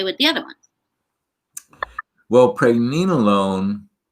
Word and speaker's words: pregnenolone: Can we visit the, I think you pronounce it pregnenolone, correct?